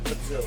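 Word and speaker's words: Patullo: Yes, Kevin Petula.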